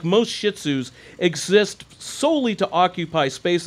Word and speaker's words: Shih Tzu: her way but i'm not a fan of shih tzu's properly pronounced shih tzus i like my dogs